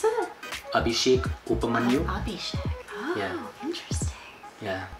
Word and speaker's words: Abhishek Upmanyu: How do you pronounce it? Abhishek Upmanyu.